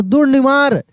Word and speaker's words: दुर्निवार: दुर्निवार, देखिए दू के बाद तुरंत र का उच्चारण करेंगे क्योंकि न में न के ऊपर रेफ की मात्रा लगाए, ठीक है ना। तो दुर्निवार।